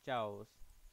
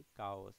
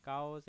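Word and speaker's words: chaos: स्थिर करना next word चास sorry कास इसको हम लोग कास बोलते हैं क उच्चारण करेंगे च नहीं काओस एक नाउन वर्ड है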